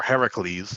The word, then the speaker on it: Heracles: brought his son or heracles is the authentic pronunciation home for his wife